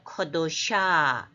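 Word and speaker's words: קדושה: 이거는 문법에서 애로 읽으라 이렇게 하는데 커가 났습니다. 약하게. 왜냐하면 이건 약한 음절이기 때문에 그래서 커도샤 뒤에 액센트가 있죠.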